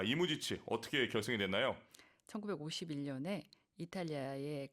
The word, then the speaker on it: 이무지치: 그러니까 우리는 이무, 지치 이런 식으로 좀 발음들을 많이 하시는데 이무지치 이런 어떤 복수형의 음악가의 이름을 이야기를 하고 있고요.